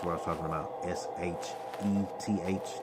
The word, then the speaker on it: Sheth: S-H-E-T-H. That was how you would pronounce it. And the original Ugarit language that they were speaking was Sheth, S-H-E-T-H.